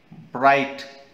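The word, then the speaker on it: bright: जैसे first one इ ब्राइट बी आर आई जी एच टी हमने रीड किया ब्राइट अब इसमें जी और एच का साइ साउंड तो कहीं नहीं आया तो यह जो टू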